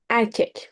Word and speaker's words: erkek: Erkek means boy. Erkek. There are two E here, but E here. The first E sounds as A. The second one sounds as E.